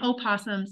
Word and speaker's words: opossum: They're just like, oh, the O is silent. Yes and no.